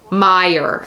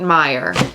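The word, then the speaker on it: Meijer: nearly impossible to find I think it's Meyer how do you pronounce m-e-i-j-e-r Meyer okay you're right Meyer there's a lot going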